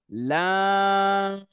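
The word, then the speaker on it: لام: তারপর next word লাম লাম একটু টান দিয়ে আমরা লম্বা করে উচ্চারণ করব লাম লাম একসাথে বলো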